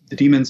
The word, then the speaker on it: daemon: Well, the demons I was referring to in that passage are the in the Greek sense, the D-A-E-N. M-O-N, which is just pronounced demon. A lot of people like to say daemon or whatever, but it's just demon as well.